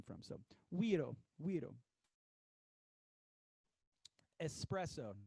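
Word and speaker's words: güiro: to get the the we doe sound the guiro you know GUI ro we doe don't be afraid to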